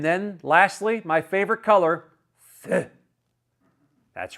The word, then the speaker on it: Feu: And then lastly, my favorite color, Feu. That's right. I checked the French pronunciation.